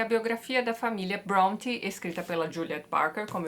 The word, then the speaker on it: Brontë: o sobrenome desta família presta atenção na pronúncia correta hein bron bron bron Hum mas tudo bem acho que eles não vão se importar se a gente seguir dizendo Bronte matar agora a gente